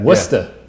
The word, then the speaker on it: Worcester: How do you pronounce that? Worcester.